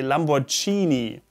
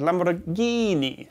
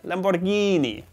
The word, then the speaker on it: Lamborghini: lamborghini while many germans or some germans say lamborghini we know this from other words if you've watched this series you will have seen many italian words that are mispronounced by germans so not lamborghini but lamborghini lamborghini next up the german word for chance take